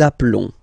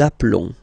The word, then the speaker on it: appelons: Nous appelons. Nous appelons. Okay, final S doesn't exist.